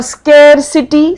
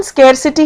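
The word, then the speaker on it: scarcity: और स्केरसिटी, स्केरसिटी मतलब होता है कमी हो गई है किसी चीज की, इसकी प्रोनाउंसिएशन स्केरसिटी है, जबकि बहुत लोग इसको स्कारसिटी, स्कारसिटी कहते हैं, वो नहीं है।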